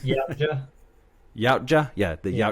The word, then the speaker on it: Yautja: How do you pronounce the race? Do you remember? Can you? It's Yautja. Yautja? Yeah, the Yeah. Yautja.